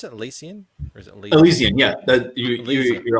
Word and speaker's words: Elysian: of elysian fields uh is that how you pronounce it elysian or is it yeah you're all good man